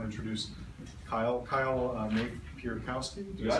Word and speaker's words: Napierkowski: Napierkowski, did I say it right?